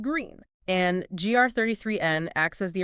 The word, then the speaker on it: GR33N: And this specific broadcast features an artificial super intelligence or ASI named GR33N that's spelled GR33N but pronounced green.